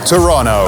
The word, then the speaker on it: Toronto: This is Toronto or as locals say, Toronto, a modern and multicultural city on the shores of Lake Ontario.